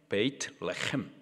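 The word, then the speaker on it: בית לחם: 베들레헴, 베이트레헴. 그래서 훅 줄여가지고 베들레헴.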